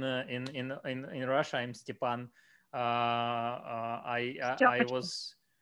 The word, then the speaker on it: Stepan: name and uh uh some people try to try to you know to to pronounce it correctly stephan uh others uh try or not try uh i i sometimes sometimes some of the customers for example write to me like stefan and then they send